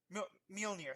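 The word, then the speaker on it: Mjölnir: can never pronounce this right, but his hammer, Mjolnir, I think, or I'm about to get kind Mjolnir. of angry. Mjolnir, thank you.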